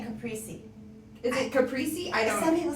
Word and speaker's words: caprese: Oh, in Italy, it's caprese.